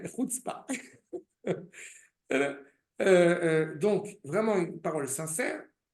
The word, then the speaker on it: chutzpah: du tout de chutzpah, n'est-ce pas de chutzpé, comme disait la grand-mère de mon épouse, Aléa Shalom, anglophone, qui demandait how do you say chutzpé in Hebrew. Ça, chutzpah.